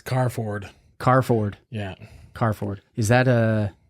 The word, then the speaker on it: Kvarfordt: It's Kvarfordt. Kvarfordt. Yeah. Kvarfordt. Is that German? Swedish. Yeah, if you look at the spelling, there's a V and a T in there. Okay. But yeah, it's pronounced Kvarfordt.